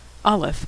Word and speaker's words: Alef: Olaf is easy to pronounce. It's silent.